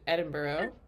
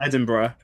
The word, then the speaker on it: Edinburgh: Um well, first of all, learn how to pronounce it, which is Edinburghough. Is that what you do? Edinburgh.